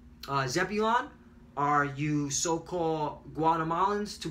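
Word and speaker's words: זְבוּלֻן: Zebulon are you so-called Guatemalans to Panamanians. Zablawan is how you say it in the Hebrew and means dwelling.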